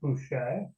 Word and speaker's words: Bueche: My name has Mm-hmm. a strange pronunciation. It's pronounced Bueche. Mm-hmm. But if you read it and if you know any German, it's like Buka, which is butcher, probably is the derivation of it.